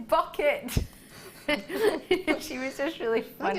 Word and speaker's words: Bucket: was high bucket but she pronounced it bouet bouquet everyone else was like it's bucket she was just really